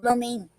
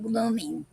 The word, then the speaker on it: gloaming: Over the course of its long history, gloaming has been pronounced differently. At one time, the term was pronounced glooming.